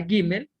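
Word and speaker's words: גימל: Tengo una gimel y una jirik male, se forma la sílaba gi, una mem y una segol, se forma la sílaba me. Y al final está una lamet que no tiene vocales. Por lo tanto, simplemente queda con el sonido de consonante. Y tengo la palabra gi, mel.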